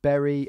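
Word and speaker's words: Bury: No, it's Berry FC. I got it from a website. Yeah, Rip Berry. It's spelled B-U-R-Y.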